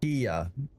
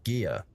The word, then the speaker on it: Kia: But the fox was saying that you would pronounce it with a g sound in Korean. It would be gia or something similar.